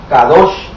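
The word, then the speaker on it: קדוש: agregamos la palabra santo, que en hebreo se pronuncia kadosh, entonces dice que habla de algo o de alguien.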